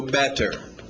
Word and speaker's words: better: D com o seu better. Só o D.